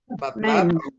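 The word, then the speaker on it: Ναΐν: Terus nain. Nain. Nain. Nain. Nain. Ya. Karena ada di sini jadi enggak baca D tapi i-nya dibaca gitu ya.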